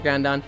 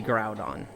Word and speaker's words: Groudon: I thought it was Groundon. It is absolutely Groudon. It is very much ground. That is the proper way to say it. That is the logical way to say it. Um, I don't know why, but I started saying it Grudon.